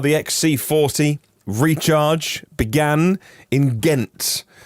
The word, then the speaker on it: Ghent: xc40 recharge began in ghent with a silent h in belgium according to